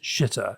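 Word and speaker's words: Xitter: But I think he's got this new word for Twitter, which is shitter, X-I-T-T-E-R. I think it's pretty good, that X. Is that how you pronounce X-I-T-T-E-R?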